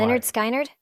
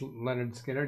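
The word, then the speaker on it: Lynyrd Skynyrd: me any good let's let's go see why Leonard skard uh yeah it was Leonard skinnard yesterday skiner you're pronouncing it different skinnard and uh if I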